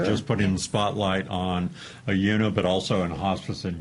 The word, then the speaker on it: Oyuna: I learned how to say it, Oyuna Hospice. Oyuna.